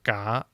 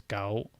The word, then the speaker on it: 搞: Is the narrator saying gao or ga? 我搞下個煲， Yeah, they're saying ga, but it looks like here the pronunciation is gao.